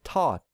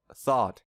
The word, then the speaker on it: thought: to say so a non-native speaker might pronounce this word as taught instead of thought we also tend to